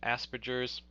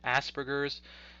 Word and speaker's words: Asperger's: qualifying characteristics for autism you may have heard of asperger's sometimes incorrectly pronounced asperger's syndrome for people who have